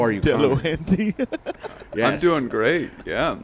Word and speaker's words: Delahanty: Delahanty.